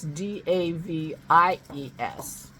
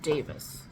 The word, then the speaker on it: Davies: on that Allan Davis and he spells Davis d a v i es and I don't but he pronounces it Davis in the United States we would pronounce that